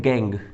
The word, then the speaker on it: gangue: जो इंप्योरिटी रहती है उसको क्या बोला जाता है, उसको बोला जाता है गैंग, ठीक है।